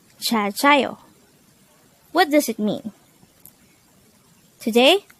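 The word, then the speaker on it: 잘자요: Jaljayo. Jaljayo. This is composed of two words. The first word is jal, and the second word is composed of two syllables, namely ja and yo.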